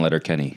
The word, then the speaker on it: Letterkenny: You wrote on Letter Kenny.